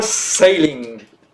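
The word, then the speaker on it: ceiling: C'est quoi sailing? Ou sailing, si on le prononce un peu plus à l'anglaise qu'à la française.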